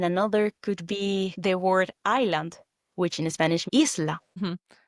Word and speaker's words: isla: For example, that word isla is written ISLA, isla, but you don't say isla, you pronounce it as E, the double E, isla.